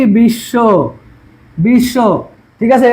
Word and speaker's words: বিশ্ব: বিশ্ব, বিশ্ব, ঠিক আছে? এটা বলছে কি মাঝখানে বা সাথে থাকলে 2 বার উচ্চারণ হবে। তাহলে কি হবে? বিশ, এই যে হসন্ত, বিশ শো, বিশ শো, ঠিক আছে?